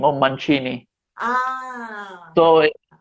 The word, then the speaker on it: Mancini: a something made of my last name on manchini ah so like the the machinist thing i